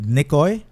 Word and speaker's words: Nikoi: Do I pronounce it correctly? Nikoi? Yeah, man. Yeah.